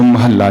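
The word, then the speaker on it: ਮਹਲਾ: शब्द साध संगत जी जो महल्ला शब्द है महल्ले न अधक ला के उच्चारण करना है महल्ले द साथ संगत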